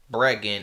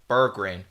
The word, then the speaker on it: Berggren: like throughout the video I say Brean instead of Burgin some reason that's how